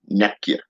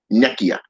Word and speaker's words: Nekyia: Nekyia. Nekyia. Okay. Nekyia. Okay. YA. Not YIA, but YA.